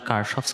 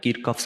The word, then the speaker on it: Kirchhoff: সো কেসিএল এর উচ্চারণ আসলে কার্শফস কারেন্ট ল, তারপরে হতে পারে কিরকফস কারেন্ট ল অথবা কিরশফের কারেন্ট ল। সো বহুত রকমের নাম আছে।